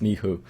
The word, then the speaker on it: Michu: Yeah, you're right, I am Polish, and it's Michu. It comes from the name Michał, and that's just Uh-huh.